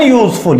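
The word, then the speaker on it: useful: के Wavell letter से, लेकिन जब हम इसका प्रोनाउंसिएशन करेंगे तो ये हिंदी वर्णमाला के या अक्षर से इसका प्रोनाउंसिएशन होता है और या हिंदी वर्णमाला में व्यंजन की श्रेणी में आता।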